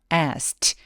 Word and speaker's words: asked: 물었다라는 과거 동사는 어떻게 발음하죠? 이 단어만 그냥 말해보자면 asked. 라고 트라고 소리를 내죠. 왜냐하면 동사 원형이 K 무성음으로 끝났기 때문에 ED를 통째로 그냥 트로 발음합니다. 제 아무리 내 눈에 E가 보이더라도 요 모음이 보이더라도 얘를 그냥 무시하는 거예요.